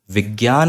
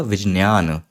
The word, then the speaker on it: विज्ञान: और ज्यादा ञ प्रज्ञ ऐसे ही अगर हम यह शब्द लिखते हैं तो यह शब्द विज्ञान नहीं बोला जाएगा संस्कृत में इसका सही उच्चारण होगा विज्ञान विज्ञान थोड़ा सज बोलने में और ज्यादा ञ विज्ञान यह अंतर है दोनों